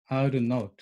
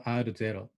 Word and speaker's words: R0: It is denoted R0 and pronounced R0 or R0.